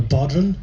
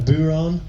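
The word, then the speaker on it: bodhrán: a f n and DH is pronounced W in the Irish language we don't have a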